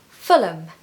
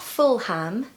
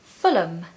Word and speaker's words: Fulham: not know is that places ending in ham or ham are actually usually pronounced as um so it's not full ham no it's Fulham Fulham now Fulham is